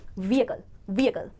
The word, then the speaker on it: vehicle: Subtle sound है और इस एच साउंड को आप ए के साथ मिक्स करके बोलेंगे, ब्लेंड करके, ये अपनी अलग से अटेंशन नहीं ले पाएगा। तो सही प्रोनाउंसिएशन बनेगी व्हीकल।